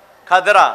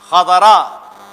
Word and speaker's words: خضرا: نہیں ہے, وہ ہے خضرا. جزیرہ خضرا ہم لوگ کہتے ہیں, جزیرہ خضرا, خضرا ہریالی. کھدرا کیونکہ زواد کا تلفظ سب سے زیادہ ٹف ہے عربی کا.